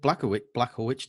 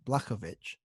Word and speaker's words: Blachowicz: I was calling him Blachowicz, but it's Blachowicz. Right. I like a W sound.